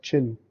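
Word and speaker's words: qin: chinese played the quinn this is called it's pronounced chin okay this chin more than any other instrument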